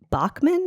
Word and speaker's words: Bachmann: Uh, we've got a wonderful guest today, Bachman. Is that how you pronounce?